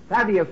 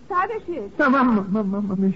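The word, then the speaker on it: Tadeusz: on Mr C Kiosco sadus I believe his first name was excuse me sir yes the name is sadish is going to make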